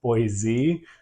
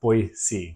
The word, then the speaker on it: Boise: it's not actually pronounced boisey um going to be pronounced boy C kind of like it sounds like there's a c instead of a z at the end um but what we